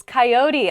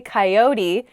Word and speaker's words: coyote: the next word is coyote I say coyote how do other people say this word K coyote oh yeah coyote I don't say that a coyote is kind